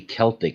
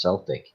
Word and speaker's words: Celtic: scotland called celtic um when it should be celtic shouldn't it but it's it's pronounced celtic yeah it's probably well it's one of the